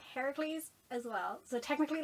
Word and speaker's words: Heracles: differences dyslexia shut up um that version is pronounced heracles as well so technically like wrong name wrong